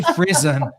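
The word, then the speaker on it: Frisson: We say Frizon because it's a French word, and we are not French, right, or Canadian. But it's a word in French, Frizon.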